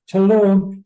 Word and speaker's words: Tulum: was a two-part we went to I always mispronounce it tum Tulum to see some Mayan runes and then we